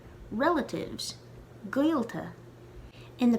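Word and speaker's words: gaolta: try to say guilta but without moving your lips that's the best way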